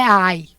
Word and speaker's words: I: não vai falar e nós falamos ai porque a pronúncia do inglês é ai Tá certo então aí